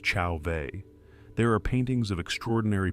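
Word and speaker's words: Chauvet: In Chauveet Cave in France, pronounced Chaveet, there are paintings of extraordinary power and beauty.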